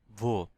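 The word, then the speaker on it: wo: এখানে হয়ার, হয়ার মানে হচ্ছে বো, হয়ার মানে হচ্ছে ভো। দেন হয়েন, হয়েন মানে হচ্ছে ভান, এটাকে বলা হয় ভান। এখানে ডাব্লিউ কে ইংলিশ ভি উচ্চারণ করা হয়।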